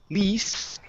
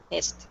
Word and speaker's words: list: next up we have the word list instead of Le least list okay give me a short ey sound okay list the list